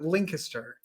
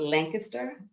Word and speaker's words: Lancaster: I've heard it's like, I always think it's Lynn kissed her. That's how I remember it. Lancaster. To me, That's it's Lancaster, Lancaster.